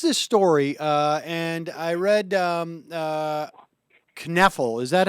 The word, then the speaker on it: Kneffel: And I read Kneffel. Is that how he pronounces his name? Yeah, John Kneffel. John Kneffel. I say Kneffel because Milo's got a book, Knuffle Bunny, and it goes back and forth.